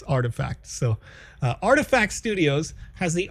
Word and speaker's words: RTFKT: is artifact studios rtfkt you may know them by because you know it's a it's a nice it's a nice play on how to pronounce that but not everybody knows that it's artifact so artifact studios has